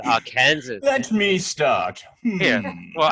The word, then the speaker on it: Arkansas: Well, then maybe they should spell it differently. The S is silent. It's like a French S, like a French silent S.